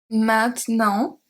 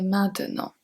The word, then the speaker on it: maintenant: But when I speak more for a reading practice or something like that, I might say maintenant. It really depends on if I speak slowly or faster.